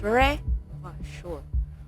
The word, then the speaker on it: Revachol: Revachol is pronounced as Revachol.